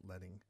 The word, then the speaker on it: leading: So anyways, that's what we're talking about with leading, and that's how it's pronounced, is leading.